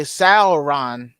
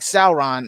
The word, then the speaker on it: Sauron: okay wait hold on that's the correct pronunciation of celeron as in sour oh okay sauron so like sauron okay okay okay i